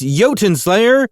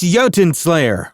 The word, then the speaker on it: Jotunnslayer: It's Jotunnslayer. No, that's not it, is it? How do you say it again? It's Jotunnslayer, Hordes of Hel.